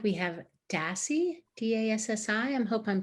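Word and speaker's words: Dassi: say something yes it looks like we have dassey d-a-s-s-i i hope i'm pronouncing your name correctly yes it's dassey hi hadassah samir how are you um the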